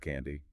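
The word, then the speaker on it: KNDy: The K&D neurons pronounced candy. It stands for kiss peptin, neuroken B, and dinorphin.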